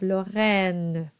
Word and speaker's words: Lorraine: line of the song, and it's unstressed at the very end. So you'll have Lorraine. So you voice it, but very lightly.